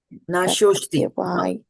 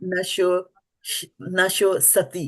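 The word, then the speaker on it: nāśo 'sti: So don't pronounce the A here if it is not there. In Sanskrit language and in Hindi also, we pronounce whatever we see in front of our eyes.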